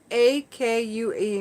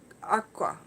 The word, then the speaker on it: akua: A-K-U-A means God or deity. Aqua. What I've been pronouncing aqua.